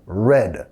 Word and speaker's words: read: En pasado, red. La misma pronunciación del color rojo, red.